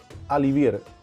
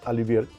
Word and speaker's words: Olivier: La ensalada alivier, como realmente se pronuncia. Se escribe Olivier, pero se pronuncia alvier.